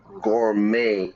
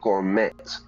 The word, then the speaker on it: gourmet: Yeah, English is badly spoken French, but often in English, we don't there's a lot of French words and we pronounce it in the French style.